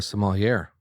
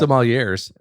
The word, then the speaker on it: sommelier: I got to talk to a sommelier. Giz, you got to work on the pronunciation there. How do you pronounce that? Sommeliers. The R is silent. Sommelier. Sommelier. You are a bundle of joy.